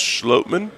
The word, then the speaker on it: Schlottman: any of our questions i think it's actually pronounced schlotman oh either way regardless